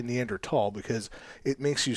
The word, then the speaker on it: Neanderthal: mediator podcast one time and apparently neanderthal is pronounced neanderthal yes not not not for me yeah well me either but i've made a point now anytime i say it to say neanderthal because it makes you sound more distinguished and